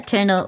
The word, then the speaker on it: colonel: more aerodynamic agree is that an accent thing that you pronounce uh kernel like kernel or is that general consensus on how to pronounce it uh that's that's how